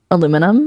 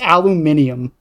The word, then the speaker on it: aluminium: If I said if I said blank foil, how do you pronounce the first word in that sentence? What what blank foil? Blank foil. It starts with an a. What do you call it? Aluminum. No. Aluminum. Closer. It's aluminium. How do you say?